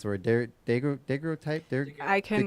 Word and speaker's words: daguerreotype: I can't pronounce the word. Daguerreotype. I can. Daguerreotype.